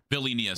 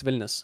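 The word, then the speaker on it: Vilnius: I live there I'm not going to lie billus I live there oh that's not bad I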